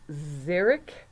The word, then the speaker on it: xeric: I had to look it up okay it's pronounced zarok and what it means is it's like a dry habitat very very dry okay xeric and then this has an X I I